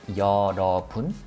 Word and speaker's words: 여러분: We pronounce it as yeoreobun.